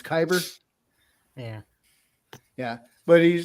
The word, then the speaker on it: kyber: Bob kyber crystals kyber what was I saying Kuiper oh it's kyber yeah yeah but he